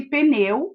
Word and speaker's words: pneu: explique você observou que a palavra pneu tem no p mudo né bebê é pronunciado sem o som e palace pneu e não o prêmio é se inscreva